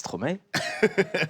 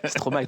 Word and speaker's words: Stromae: -It's Stromae. "Strow-mai", sorry. -Thank you for pronouncing it right.